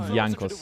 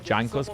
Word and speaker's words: Jankos: You pronounce it Yankos with J like not Jankos but Yankos in Polish.